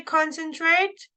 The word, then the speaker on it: concentrate: I see and none when you say concentrate the stress is on con okay concentrate okay so we